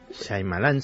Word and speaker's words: Shyamalan: ¿cómo se pronuncia? Shyamalan, el director. Shyamalan, sí.